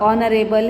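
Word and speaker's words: honorable: यहाँ पर जहाँ पर ये एच साइलेंट हो जाता है, कुछ वर्ड्स ऐसे हैं, ऑनरेबल है, तो ऑनरेबल एच से स्टार्ट होता है, लेकिन फिर भी उसमें साउंड जो है वो ओ की आती है, ऑनरेबल, तो इसीलिए हम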